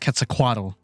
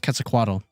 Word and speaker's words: Quetzalcoatl: quetzalcoatl was actually pronounced quetzalcoatl did not know that until one of my friends who took a class learning about her told me that yeah it's actually pronounced quetzalcoatl not total and i was like